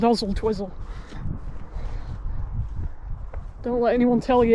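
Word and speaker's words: Oswaldtwistle: Yes, the town over there is called Ozel Twizzle. Don't let anyone tell you it's pronounced Oswald Twistol.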